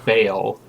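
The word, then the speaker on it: Ba'al: is supposed to be pronounced Bael. Bael, something like that. I don't know. They just say ball.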